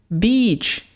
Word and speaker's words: beach: A palavra praia, ela é falada beach. Ela tem um som de I longo, ok?